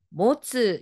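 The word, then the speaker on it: 持つ: 그러면 가보겠습니다 앞에 글자가 가지다 들다 였어요 미나상 발음이 뭐예요 아이 모츠 였고요 오른쪽에는 여러분 지참해 주세요 할 때 지참입니다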